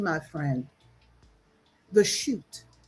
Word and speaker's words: Shut: name, my friend, the chute. S H U T. And you spell it with a line over the U. Shoot.